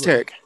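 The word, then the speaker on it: Taric: Tarek? Can you even remember what he did? What kind of abilities he had? I know he was... It's Tarek. It's Tarek? It's Tarek. How do you spell it?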